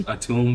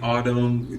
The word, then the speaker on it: Atùm: with how people pronounce some people call me Autumn things like that and it's it's fine but yeah my name